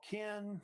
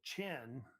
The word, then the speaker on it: Qin: And, of course, they had this kingdom called Qin, sometimes they pronounce it also Chin, as well.